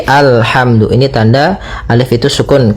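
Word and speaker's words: الحمد: Di sini kita baca alhamdu. Maka apabila ada alif lam di awal bacaan, maka a-nya dibaca dengan fathah. Alhamdu. Nah, di sini bukan ulhamdu tapi alhamdu.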